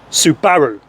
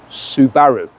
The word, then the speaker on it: Subaru: this street level Legend the Subaru impressor WRX Subaru yes mate Subaru do you know why I say that because that's how you pronounce it you got a problem you got